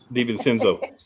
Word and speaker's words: DiVincenzo: DiVincenzo.